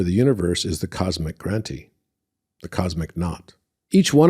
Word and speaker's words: Granthi: And it shows the 3 Grantis, right? And the Granti is spelled Granthi, like high, like high grant, right?